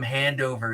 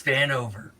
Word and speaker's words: Vanover: No, she keeps calling him Handover. It's Vanover. That's I'm because Shelley, gunked out of my that's brains half the because time, and I know that.